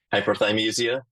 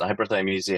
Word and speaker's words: hyperthymesia: Hyperthymesia. I wrote down the word thigh, like chicken thigh. I was thinking that was how it was.